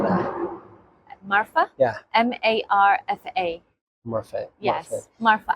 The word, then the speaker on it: Marfa: I'm a senior partner with Marfa Advisors here in Dubai in the UAE. Now, how do you spell that? Marfa?